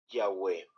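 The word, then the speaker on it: Yahweh: general unánime de que la pronunciación original es yahwe miren Se los voy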